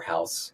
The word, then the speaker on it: Haus: I think just sign up for Haus. That's the growth hack. Do geo holdout testing. Is it house spelled like house? It's h a u s dot i o Yeah.